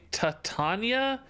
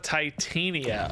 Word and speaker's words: Titania: idea I like Baron I can't handle when people say tatanya instead of Titania oh yeah that does